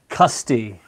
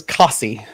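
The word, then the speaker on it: Costessey: to watch that again no custy no that doesn't sound right either coffee how how about cussy i like kosty costco um y'all dancing around a little bit this is cossy straight up coffee yeah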